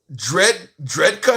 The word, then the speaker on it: Drejka: It looks like, by the way, for anybody who's wondering about this story, Michael Dredka is his name. The last name is spelled Drejka.